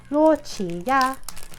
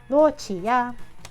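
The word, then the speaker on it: 洛奇亚: Qi, like Chi-Chi from Dragon Ball, I guess. And then Ya, so Luo Qi Ya. It's supposed to just sound like a transliteration or like the Chinese pronunciation of Lugia's name, essentially.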